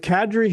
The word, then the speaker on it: Kadri: secondly the funny part about it is if kadri hadn't have been 35 feet off uh over